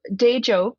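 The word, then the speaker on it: Teejop: How do you pronounce that? Yeah, so Dejop is the the area that is currently known as Madison, which is the capital of the state of Wisconsin.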